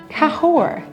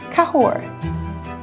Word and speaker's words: Cahors: Cahors. Cahors. The S is silent. You don't pronounce it. It is pronounced Cahors.